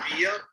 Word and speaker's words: Villa: And I just wanted to correct you guys real quick with my last name. It's pronounced Villa.